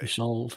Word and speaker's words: Isolde: It's like a Isolde. Yeah. Yeah, Isolde.